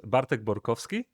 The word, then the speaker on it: Bartek Borkowski: So, the correct pronunciation is Bartk Borovski, but but you you're seriously very very close.